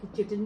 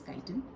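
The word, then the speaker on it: chitin: सो ये जो काइटन है, इसको चिटन भी कहते हैं कुछ लोग, बट the correct pronunciation is काइटन।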